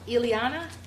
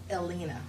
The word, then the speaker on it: Elena: Eliana, is it Eliana? Elena.